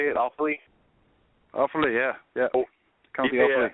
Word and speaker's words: Offaly: Is that how you say it, Offaly?